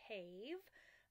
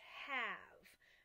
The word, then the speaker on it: have: trick or trick word the e usually makes that a say it's long mean so it should say hey v' but it says have right for some reason